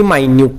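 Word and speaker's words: minute: Cells R extremely मायन्यूट. आता spelling कशा आहे बघा, मायन्यूट आहे, स्पेलिंग मिनिट सारखीच आहे, मायन्यूट याचा अर्थ अतिशय लहान, इन साईज.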